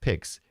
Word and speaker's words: PIX: said pow or pix, pronounced pix in WPIX's case.